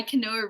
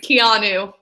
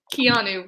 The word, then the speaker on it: Keanu: kaboom is played by Kanoa Reeves I never say his name right is it Kanoa I think it's Keanu Keanu Reeves yeah Catherine think